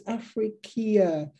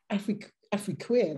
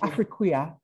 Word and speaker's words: Afriquia: and going, oh, it's Afriqueer, what is it? And you were like, no, it's just Afriquia, that's just what it is. It's just spelled in a different way.